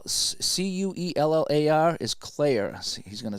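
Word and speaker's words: Cuellar: that's how you say his name c-u-e-l-l-a-r is Claire he's gonna say so so it's not cellular it's not sellers um boy I'm having a heck of a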